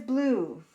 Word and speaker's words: blue: We're not saying blah. We're saying blue.